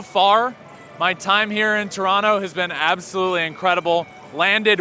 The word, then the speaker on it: Toronto: Toronto. Nailed it. You don't pronounce the second T. No T. It's like an N.